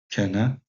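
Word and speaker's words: kende: norvégien et en suédois, donc kenne, si on ne prononce pas le D en danois. Enfin, pas dans ce mot-là en tout cas, dans beaucoup de mots.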